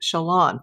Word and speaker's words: Chelan: Chelan, pronounced Chelan. Thank you.